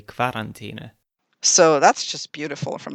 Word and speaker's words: Quarantäne: It's not Quarantäne, it's Quarantäne because it's a French word. The pronunciation of QU as K isn't common in German though.